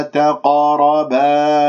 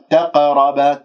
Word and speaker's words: تقرب: كلمة تقرب القاف ساكنة إذا مقلقلة، قلقلة صغرى في وسط الكلام، والقاف مفخمة مرتبة رابعة لأنها ساكنة، أنت ما تجيب للقلقلة بقاف مرققة، تقول تقرب تقرب خطأ، تقرب هكذا تعطيها تفخيم مرتبة رابعة.